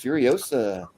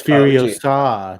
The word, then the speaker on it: Furiosa: It's Furiosa, not Furiosa.